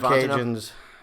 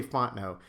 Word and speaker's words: Fontenot: You say it in 3 syllables. You say we say Fontenot. Fontenot. You said it, which you did it right. We just say Fontenot like it's 2 syllables, but Fontenot. it's not wrong to say Fontenot.